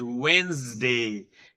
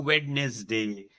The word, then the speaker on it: Wednesday: It is not Wednesday. It is called as Wednesday. There is no witness day. It is Wednesday.